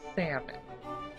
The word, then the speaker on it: salmon: Iron same way with salmon please although there is an L in the word salmon it is silent so I don't know